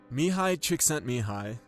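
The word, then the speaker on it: Mihaly Csikszentmihalyi: Mihai Csikszentmihalyi, and that's by the way how you say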